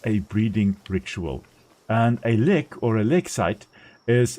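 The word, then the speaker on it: lek: Le is or le uh if you pronounce I think more correctly. a lick.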